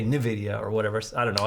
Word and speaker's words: Nvidia: n is for nvidia gotta say it right for all those people out there they don't like it when i say uh nvidia it's uh nvidia or i guess that kind of sounds i guess i say